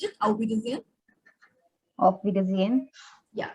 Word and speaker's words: Auf Wiedersehen: So it's Auf Wiedersehen, not Auf Wiedersehen. Many people stress upon H. It is not there. It should be kind of silent. The sound of here should be there. Auf Wiedersehen.